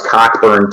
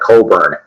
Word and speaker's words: Cockburn: uh and I know the first time I saw it I thought it was cockburn too but no they call it Coburn that's how they pronounce it at least on the